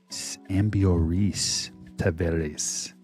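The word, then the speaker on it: Ambioris Tavarez: Ambrioris Taveras.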